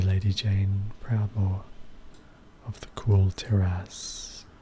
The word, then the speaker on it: Kul Tiras: See Lady Jaina Proudmoore of the Kul Tiras. Kul Tiras. Interesting name. Sounds like cool. Maybe it's pronounced Kul.